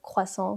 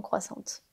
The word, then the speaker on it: croissant: Là encore une fois, elle a prononcé le T alors qu'il ne faut pas le prononcer comme Margot Robbie dans Croissant, Croissante.